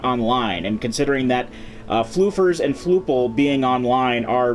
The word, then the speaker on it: Flufeur: Today we are actually playing as Captain Flufeurs, or Chef Flufeurs, as the case may be, or it should be Chef Flufeur, because it's French, so the S at the end is silent. That's how French works.